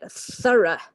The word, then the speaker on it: thorough: This is quite a tricky word to say. Okay, so thorough. Thorough investigation was made. Okay, we're not really pronouncing hardly any of the letters in that case. It's really, really shrunken down.